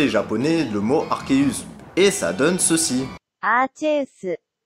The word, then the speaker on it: Arceus: Et du coup, pour conclure, bah au final, la vraie prononciation du dieu des Pokémon serait théoriquement Arceus. Et au final, bah cette prononciation est confirmée par la VF du film Pokémon.